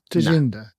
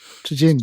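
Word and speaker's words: Tjinder: pronounced his first name right? Tajinda. Luke, tell us how to pronounce it. Oh, I think Neil's pretty good. Tajinda.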